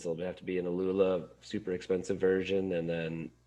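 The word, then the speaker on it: Aluula: I always pronounce it wrong. Like Alula? Is it Alula? Yeah, Alula fabric.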